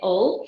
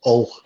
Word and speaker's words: Hull: That's interesting from a Beverley girl, well, Nottingham girl, using the correct pronunciation of Hull without the H.